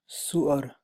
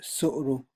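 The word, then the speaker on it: طهارة: is the chapter on the rulings of suara or sorrow or sore okay that different pronunciations are found for this word alone when I'm going to stick to the word which I read in the dictionary is sorrow in the kitab Kaduri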